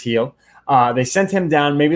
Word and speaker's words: Gil: I always want to say Gil because it's spelled that way, but it is Gil.